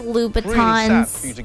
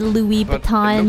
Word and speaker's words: Louboutin: it i've been getting i think it's pronounced louboutin i don't know why i said louis baton it's like you've got